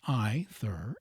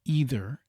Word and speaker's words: either: The polite pronunciation of either and neither is ither and nthur not either and neither.